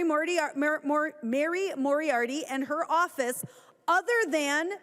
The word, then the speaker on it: Moriarty: And thanks again to Mary Moriarty is how you pronounce her name for her work on this.